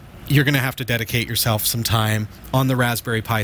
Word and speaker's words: Raspberry: head on over to raspberry pi dot org don't forget the silent P in there rasp berry pie dot org and as